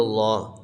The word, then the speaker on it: اللہ: سے پڑھنا ہے، الا اللہ لفظ اللہ کا لام موٹا ہوگا، لا الہ الا اللہ،